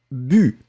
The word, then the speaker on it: bu: Là, c'est la différence entre le OU et le U. Ici, effectivement, c'était BU, B-U, d'accord. Faites attention, Felipe, faites attention, Olga, et courage. C'était le U-U-U qui est vraiment, vraiment très, très, très fin.